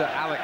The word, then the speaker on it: Alex: chance to work and Alex Ferguson it is Alec by the way that's how he chooses to pronounce it though it's spelled Alex get one or two